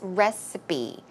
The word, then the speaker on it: recipe: but just in case the P sound here is re it's closer to a b sound so it's recipe recipe and finally we have